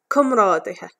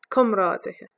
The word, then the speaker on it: comrádaithe: The plural is comrádaithe, comrádaithe. Do you find Irish spelling difficult to read and pronounce?